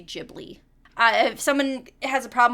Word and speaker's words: Ghibli: But anyway, Ghibli, Studio Ghibli. To my understanding, both are allowed pronunciations. Like, there's not a very one specific one.